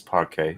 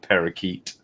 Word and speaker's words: parquet: and by the way it's parquet it's not parakeet miss turdy she said